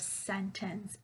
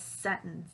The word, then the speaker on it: sentence: So basically, the person is asking, why didn't I pronounce the word sentence as sentence like a native English speaker, right?